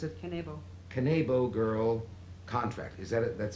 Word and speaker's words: Kanebo: Currently, she holds the, how do you pronounce it? Kanebo.